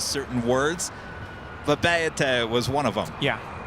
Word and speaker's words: Papeete: Papeete was one of them. Yeah. At least we're not saying Pepite. Because that's what it looks like.